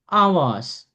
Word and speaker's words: hours: groceries what is the meaning of groceries everybody ကုန်စည် ကုန်စိမ်း right groceries okay Sidhu hours hours Hours.